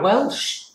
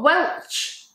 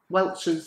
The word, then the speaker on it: Welch's: Nah, Welsh. Is that an S or a C? C, like Denise Welsh. No, Welch. Welsh. Welch. C-H. Welch's. Yeah, Welsh I know is